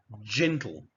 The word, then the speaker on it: gentle: Now, when the letter G is followed by E, I, or Y, it is pronounced as a J. Otherwise, it forms a hard sound as in gold, G.